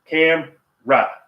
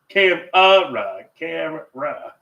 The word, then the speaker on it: camera: Cam and I say no no no two syllable put your chin under put your hand under your chin camra not cam cam ra that's see constant battle